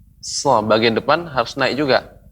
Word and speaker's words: ص: Ya, so. Kalau nggak kita naikkan bagian depan, nggak bisa. Sa jadinya. Sa jadinya. Maka itu naikkan. So. Lidah kita mirip terasa tertekuk, melengkung ke atas.